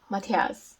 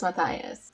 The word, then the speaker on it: Matthias: was kenya and then i called matthias matthias because that's how i'm used to pronouncing it but it's mathias in the show and jen yeah it's